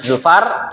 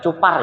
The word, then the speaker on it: Zufar: Umar dan Zufar ini nama orang ya. Zufar bukan cupar ya. Beda cupar beda lagi. Ini Zufar ya.